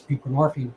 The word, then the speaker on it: buprenorphine: is a narcotic itself it's buprenorphine rhymes with morphine out to the um